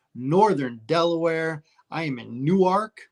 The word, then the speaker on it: Newark: Delaware I am in Newark which is pronounced new ark correctly and Larry is in